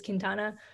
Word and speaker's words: Quintana: to my last name which is quintana which can be pronounced both ways um depending on your understanding of spanish um my last name